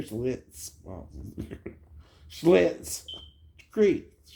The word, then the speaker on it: Schitt's Creek: You ever heard of Schlitz malt liquor? Schlitz malt liquor. Schlitz Creek.